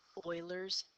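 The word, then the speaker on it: Euler's: hello today we are talking about what's called Oilers method it is spelled e l r um however it is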